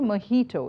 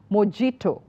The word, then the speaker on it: mojito: so we like many of us we don't pronounce it correctly so it should be mahito it's not mojito I've even heard chefs popular chefs pronouncing this